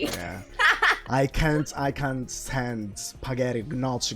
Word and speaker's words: gnocchi: I can't stand spaghetti, gnocchi. Gnocchi is something that is gnocchi. That's the real pronunciation, but yeah. Gnocchi. Try it again. Gnocchi. That's nice. Because the sound ñ isn't there in English, so also Bologna.